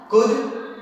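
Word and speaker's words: could: इस तरह से याद रखना है कि हमें इन सब शब्दों में कभी भी एल का प्रोनाउंसिएशन हम नहीं करेंगे। काम, palm, palmist, कुड, वुड, शुड, Chowk, talk, Fock, calf, behalf, better half.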